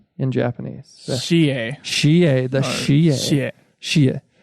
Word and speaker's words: Shie: Joe, how do you pronounce that? S-H-I-E. In Japanese. Shie.